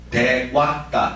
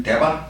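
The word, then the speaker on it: देव: 천신이 천신이란 말의 원어는 대 왔다 여시로 읽으면 대바 하지만 빨리 시로 읽으면대 왔다대 왔다 부자를 와로 발음합니다 그 기억해 두세요 리어에서는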